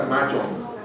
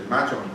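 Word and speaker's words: Mojang: La que desarrolló Minecraft, si bien recuerdo, el nombre se pronuncia Mahjong. Mahjong, ¿verdad?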